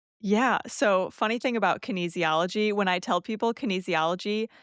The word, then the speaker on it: kinesiology: I know you have a formal background educationally in kinesiology.